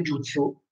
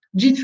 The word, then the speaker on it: jutsu: La differenza tra Jitsu e Jutsu. Jitsu in giapponese non esiste. Con il senso di tecnica.